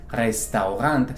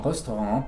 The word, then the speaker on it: Restaurant: No es restaurant, sino restaurant, porque viene del francés.